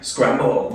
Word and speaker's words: Scramble: Scramble. Scramble. Like the egg.